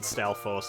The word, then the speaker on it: Stalfos: I always thought the S at the end of Stalfo, or Stalfos, was silent when I was younger, but I think a lot of people actually pronounce it Stalfos. I think I'm in the minority there.